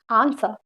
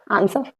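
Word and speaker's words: answer: तो यहाँ पे आपका W साइलेंट है, इसको बोलेंगे आंसर। Okay, आंसर।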